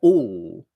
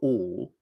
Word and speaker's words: all: But if I take the word all, A-double-L, all, then to get the right effect, I'm sort of mixing the vowel and the consonant together so that all, I can even put my tongue into the L position right at the start of